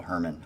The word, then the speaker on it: Hoerman: Actually, it's Michael Herman. I just like the way it's spelled. It's actually like Hoerman.